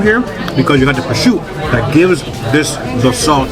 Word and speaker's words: prosciutto: Yes, it's spelled prosciutto, but they asked in Italian, it's prosciutto.